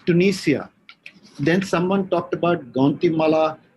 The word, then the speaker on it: Tunisia: It's as I told you, one of the, it's Tunisia.